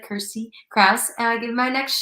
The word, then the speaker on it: Kirstie Kraus: dive into all things Kirsty Krauss uh it's pronounced like Kirsty Krauss and I give my next show is Thursday